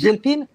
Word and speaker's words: Gilpin: How do you pronounce her last name? Gilpin. You're right. Monique Gilpin?